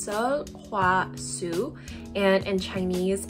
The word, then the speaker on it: Sulwhasoo: every product first off how do we pronounce the brand's name in korean it's so hua su and in chinese it's